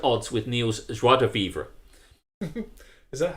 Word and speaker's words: vivre: with Neil's joie de vivre. Is that how it's pronounced, vivre? Vivre. It should be without the E, but I did it